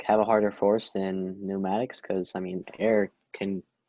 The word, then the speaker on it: pneumatics: then we call it pneumatics and notice there's a p at the beginning of pneumatics it's it's a silent p but make sure you